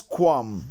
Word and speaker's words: qualm: The next one is qualm. It is silent.